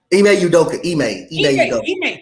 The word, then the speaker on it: Ime Udoka: They didn't show up, and when you make how you pronounce his name? Udoka. Ime Udoka.